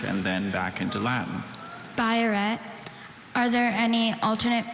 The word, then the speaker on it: biuret: Biuret. Are there any alternate pronunciations?